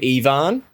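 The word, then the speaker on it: Aoibheann: uh yeah so there's a name called ivan uh pronounced double e v a n spelt a o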